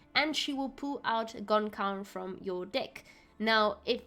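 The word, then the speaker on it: Gan Ceann: I also use Gun Cayenne, now, or Gon Cawn, as someone in my chat has said. Now, apparently this is the Irish mythological creature, which means no head, Gon Crown, and you pronounce it Gon Cawn.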